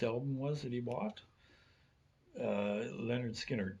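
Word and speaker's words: Lynyrd Skynyrd: Leonard Skinner, pronounced.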